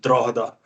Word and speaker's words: Drogheda: End, Norwich on loan, Hearts, Coventry, Carlisle, Shelbourne, Drogheda, and then Morpeth United. As I used to have a flat there, and I didn't want to get battered off the ultras for this. It's pronounced Drogheda.